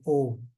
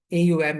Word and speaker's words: Om: And the Mandukya Upanishad basically is a very deep description of the levels of consciousness and how Om, AUM is pronounced as Om, not Aum.